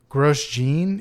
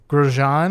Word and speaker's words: Grosjean: Romaine gross oh man I looked this up gross Gene it's gross Gene but it's not grosjean or something like that because it's spelled gross Gene yeah and he's Romanian